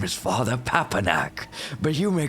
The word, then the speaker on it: Papanak: Like you got to have to say it in syllables. I'm from Sandy. I don't fucking understand all these jibber jabber. Anak. Papnak? You nearly had it. You nearly had it. Yes. Like Pumpernickel. You know what?